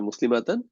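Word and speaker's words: مسلمة: মুসলিমাতান আর sorry নাস ফর্মের জন্য হয়ে যাবে মুসলিমাতান আর জার ফর্মের জন্য হয়ে যাবে মুসলিমাতি আর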